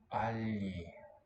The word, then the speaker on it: agli: Agli. It's gonna be like this. Uomini. Agli. With a palatal L spelled with a G.